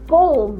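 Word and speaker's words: comb: said this is ए कोम right and I hope you ignore pronounce the later the sound of letter B इट इज ए कोम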